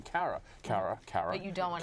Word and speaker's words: Cara: i pronouncing her name cara cara cara you don't want have sex with each other no no and and just recently she said to me you know my name is pronounced Corran how was that conversation